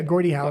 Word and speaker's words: Gordie Howe: Yeah, Gordie Howe is how you say it.